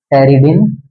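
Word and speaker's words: pteridine: टेरिडिन में P silent रहेगा, टेरिडिन ring.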